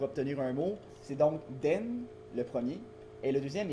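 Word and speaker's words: 電: comment le lire alors ce caractère là s'appelle den se prononce den excusez l'accent j'ai pas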